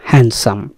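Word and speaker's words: handsome: একটি বিশেষ ধরনের শব্দ হ্যান্ডসাম কারণ এখানে ডি এর উচ্চারণ হয় না এটাকে বলে সাইলেন্ট ওয়ার্ড আপনারা একটু খেয়াল করবেন এটা হ্যান্ডসাম বলবেন না হ্যান্ডসাম হ্যান্ডসাম শব্দের অর্থ হচ্ছে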